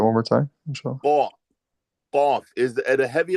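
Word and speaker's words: قاف: Qa, qaf.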